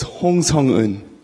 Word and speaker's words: Hong Seung-eun: So the in Korean names, your family name comes first, so it's Hong Seung-eun.